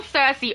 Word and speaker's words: Cersei: Adam says Cersei is how it should be said. I say Cersei because that's how I've heard it pronounced the majority of my life